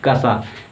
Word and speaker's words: क्ष: इसका मतलब सही उच्चारण क्या है? अगर ये आपसे पूछा जाए तो आप बताएंगे कसा। क्या? कसा। क्यों कसा होता है?